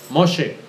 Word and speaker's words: Moshe: la Biblia mois Moisés Cómo se dice Moisés en hebreo moshe é moshe escribió los cinco primeros